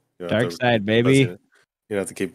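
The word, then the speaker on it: Darkseid: the planet apocalypse I know all right Dark Side baby you have to keep buzzing in yeah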